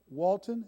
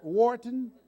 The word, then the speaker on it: Wharton: has an MBA from Walton am I pronouncing it did I Wharton yes do you see why they